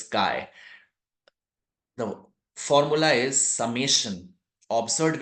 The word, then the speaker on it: chi: So Kai is a Greek letter word delta it is not chai it is pronounced as Kai.